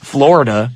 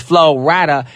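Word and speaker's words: Flo Rida: this man's name because they think his name is Florida no his name is florada featur and SE with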